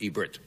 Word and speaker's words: Ebert: we have gene siskel I pronounce Rogers last name wrong it's Ebert right Ebert Ebert I said I said yeah and it's Ebert Ebert yes it is I'm sorry about that